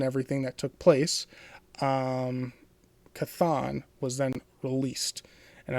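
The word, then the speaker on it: Chthon: the kurfuffle and everything that took place, um, Kathon was then released. And I might have been saying it differently, but that's how it's pronounced. Cathon. Co N. Kathon.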